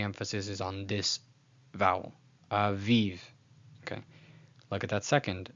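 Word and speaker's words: אביב: So contrary to, let's say, some people might say it's aviv, aviv. No. Aviv, aviv.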